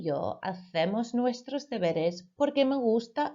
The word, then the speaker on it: hacemos: Los jueves mis amigos y yo hacemos nuestros deberes porque me gusta hacer mis deberes. Again, I mispronounced the word here, hacemos. Remember your C sounds like a th, a th.